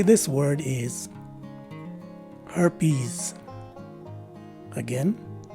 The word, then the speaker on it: herpes: found inside the parentheses the first letter e is a swa sounding letter e the second letter e is a long e and the letter s at the end of the word takes a z sound as in zebra so the proper way